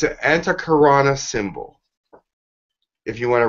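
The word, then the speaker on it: antahkarana: called they'll know it's a karana it's an anti karana that's how you pronounce it you spell that a n ta HK AR a and a it's an anti karana symbol if you want to write that down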